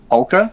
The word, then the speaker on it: polka: Polka? Like the music? Yeah, Polka. Polka. It's an L. Polka.